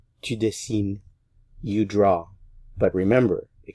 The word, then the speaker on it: dessines: Dessine, dessine, dessine, dessine. So, je, tu, il, elle, on, and il, elle, plural, are all pronounced the same.